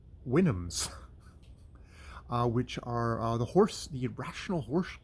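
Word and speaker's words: Houyhnhnms: it has helpful notes, and apparently that is pronounced Winhams.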